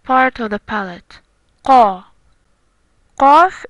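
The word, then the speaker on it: ق: Then we have Fa, Fa, and Qaf, Qaf. Fa is like F, it's always soft. The Qaf sound comes from the soft part of the palate, Qa. Qaf is hard, while Kaf is soft.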